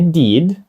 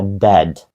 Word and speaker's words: dead: що це за слово Dead означає мертвий не did а Dead мертвий А що це за